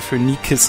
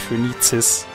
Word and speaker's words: Phönikis: Ich sage Phönikis, nicht Phönizis. Das finde ich nicht so schön, die Aussprache.